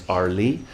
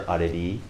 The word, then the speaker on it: Areli: Her birth name is Arli, or I prefer to call her Areli, which is maybe a little closer to the pronunciation in Spanish.